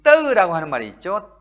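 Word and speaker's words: ទៅ: 이 떠라고 하는 말이 있죠. 떠 약간 잡아채듯 발음을 해야 합니다. 떠 이렇게 길게 하는 게 아니라 떠. 예, 싹 잡아채야 됩니다.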